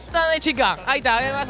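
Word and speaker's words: tadını çıkar: Tadnuchikar. Tadnuchikar.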